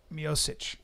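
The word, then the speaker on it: Miocic: and I know how to say his name mosich let's let's uh should we start with that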